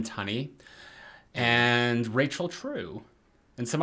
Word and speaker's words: Tunney: more hesitant to pronounce is it Robin Tunney or toony how do you say it I've only I've only ever heard Robin Tunney but okay it's uh Robin Tunney and Rachel true and